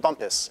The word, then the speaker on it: Bumpus: We are being told my pronunciation is incorrect, but I assure you my pronunciation of Bumpus is correct.